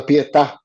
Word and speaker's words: Pietà: Pronounce it for us, Adrian. La Pietà. Pieta. Exactly. That one. The accent on there.